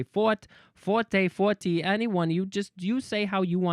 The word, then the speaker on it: forte: The French would write the word leot and would rhyme it with the English word for fo r.